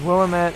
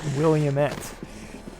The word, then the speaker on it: Willamette: Cousin lives in Willamette, Oregon. It is pronounced to rhyme with damn it, not Williamette.